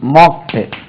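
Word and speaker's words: mock: மோக் மோக்ட் மோக்ட் மோக்கிங் இது மாக்குன்னு உச்சரிக்க கூடாது மோக் ரைட் திருத்து சிறிது மாற்று மாடிஃபை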